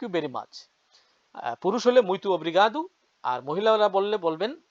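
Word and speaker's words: muito obrigado: অনেক ধন্যবাদ thank you very much পুরুষ হলে মৈতুব্রিগাদু আর মহিলা হল বললে বলবেন মৈতুগাদা উচ্চারণ অর্থ সেম আপনাকে অনেক ধন্যবাদ আই এম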